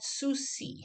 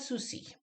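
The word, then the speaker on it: souci: are to some extent it uses the word susie which means worry and that's spelled s-o-u-c-i-e-r so ca means to worry it's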